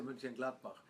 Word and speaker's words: Mönchengladbach: My first club in Germany, Borussia Mönchengladbach.